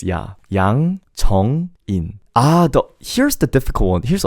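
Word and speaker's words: Yang Jeong-in: You have to say this word actually very quickly. If you elongate it, it becomes more weird. So don't say Jeong, say it quickly. Jong-in. So best way to pronounce Korean is to cut by syllable and blurt out the sounds at a time. Instead of Yang Jong-in, just say, like, be prepared and then spit out one word, Yang Jong-in.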